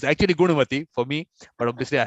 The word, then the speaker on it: Gunavathi: i keep telling you your name is actually gunavati guru means you have very good i mean